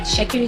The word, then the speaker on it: Itsekiri: TS is sh. That is the T is silent. So anything with pronunciation sh is spelled with TS. Just like Shakiri is spelled ITSEKIRI.